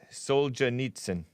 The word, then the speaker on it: Solzhenitsyn: constipated oh okay yeah alexander soldier nietzsche that's how it's pronounced thank you dark side